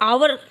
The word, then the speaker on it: hour: यहाँ पे an hour लिखा है, यहाँ पे h आपका साइलेंट है तो o की साउंड आती है, o की साउंड आती है, आवर हमारा हावर की जगह आवर आता है।